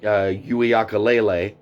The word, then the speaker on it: Uiagalelei: Let me see if I can get this right. Uiagalelei. I'm pretty sure that's pronounced correctly.